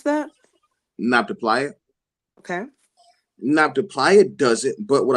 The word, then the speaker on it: Nabta: So, does it include documented procedures or just outcomes as far as this not to, how do you pronounce that? Nabta.